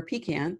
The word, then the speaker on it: pecan: in North Texas called pecan square or pecan depends on your pronunciation it's located in Argyll